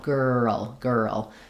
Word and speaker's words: girl: of that tense and then again our dark L, girl. So I think when you slow down and feel like you're sliding on it, it is one syllable, girl, but you can kind of break it almost into two syllables, girl, and then girlfriend.